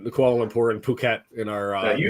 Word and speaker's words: Kuala Lumpur: Kuala Lumpur. That's how I say it, but I could be That's what I would say. And I actually know somebody who was born in Kuala Lumpur.